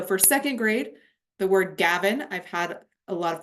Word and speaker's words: Gavin: In fact, that's really the rule when we have an open syllable, that vowel sound should be a long sound and not a short sound.